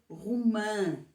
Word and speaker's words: romã: como está aqui escrito mas se acrescentarmos um til ao a Então vai ser rã com pronúncia nasal que é exatamente o